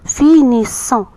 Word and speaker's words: finissons: Deux S entre deux voyelles se prononcent C. Ça donne le son C. C'est pourquoi on dit nous finissons.